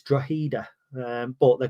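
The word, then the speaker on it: Drogheda: Ireland uh who said you don't pronounce the G it's draida um but they're called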